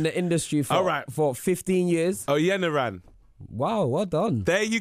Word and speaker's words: Oyeniran: Femi Oyeniran.